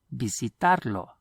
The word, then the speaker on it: visitarlo: Visitarlo. Notice the V is always pronounced like the letter B in Spanish.